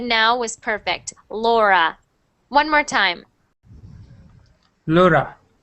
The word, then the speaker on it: Laura: good next one Lura Laura Laura Laura Laura good that R sound just make sure it's not rolling so what you said now was perfect Laura one more time Laura